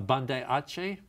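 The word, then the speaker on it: Banda Aceh: Uh I remember uh in 2004 I think it was uh Bandai Ace is that the correct pronunciation?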